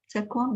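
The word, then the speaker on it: Sequim: Stacy says, my yay is I'm headed back home to Sequam, is how you say it, in a week.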